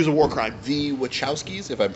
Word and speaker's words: Wachowskis: think this movie is a war crime the Wachowskis if I'm pronouncing that right yes you are ah both